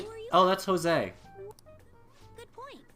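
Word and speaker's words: José: Oh, Jose. They actually pronounced the J. Wait, what? His name is Jose.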